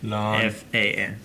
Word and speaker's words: Lan Fan: Lan Fan. Yeah, because the way I wrote it down phonetically in here, it's LAHNFAN.